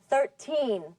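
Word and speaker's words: thirteen: The numbers that end in teen have the stress or accent on the teen. The ones that end in ty have the stress on the first syllable.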